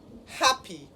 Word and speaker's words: happy: Happy is an adjective. So, as an adjective, happy has 2 syllables. And according to the rule, when the word has 2 syllables and is an adjective, the stress does what? Falls on the first syllable. So it is happy.